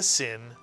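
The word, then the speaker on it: שׂ: or the left-hand sail, It is the Hebrew letter sin, and it's pronounced S, the same way you would pronounce the Samech.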